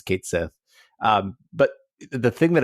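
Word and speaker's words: Cait Sith: like pretty good uh I enjoyed Kate Sith and that's how they pronounce it in this game uh for the record yeah it's Kate Sith um but the thing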